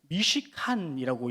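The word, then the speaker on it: משכן: 성막, 장막을 뜻하는 이 히브리어는 미시칸이라고 읽는데 그 의미는 정착이라는 뜻이에요.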